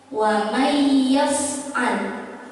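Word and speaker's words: وَمَن يَفْعَلْ: Ini dimasukkan hurufnya, tidak menjadi wa man ya, tapi menjadi huruf ya. Wa may ya, wa may ya, bukan wa man ya, tapi wa may ya, melebur masuk ke huruf ya-nya, gitu ya.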